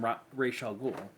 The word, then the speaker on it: Ra's al Ghul: He even gets to deal with one of Batman's big bads in Ra's al Ghul. Or Roz, depending on your pronunciation preferences.